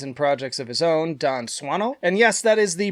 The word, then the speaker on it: Dan Swanö: of many bands and projects of his own, Don Swano. And yes, that is the proper pronunciation from his own mouth. Hello, my name is Don Swano.